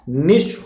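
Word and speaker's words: niche: तो नीचे नहीं होगा, निश होगा।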